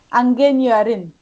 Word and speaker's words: Ingenieurin: How can I pronounce engineer? Angenierin. Engineerin.